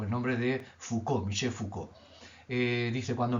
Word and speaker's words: Foucault: que eh yo también He descubierto tardíamente que se pronuncia foucault porque la facultad ha